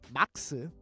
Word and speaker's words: Marx: But in Korea, instead of saying Marx, which is probably the proper pronunciation of Marx, we say it the Japanese way, which is Marx.